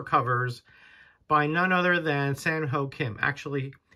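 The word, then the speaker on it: Kim Sanho: covers the horror covers by none other than sanho Kim actually it's pronounced it's read from uh right to left uh so it would be Kim Sam Ho and uh he is a Korean artist born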